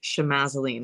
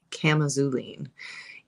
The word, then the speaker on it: chamazulene: is a chemical constituent which apparently I've been pronouncing misc correctly or incorrectly um my whole entire life so it looks like chamazulene because it's got a CH but it's actually culine and if you notice that in the auline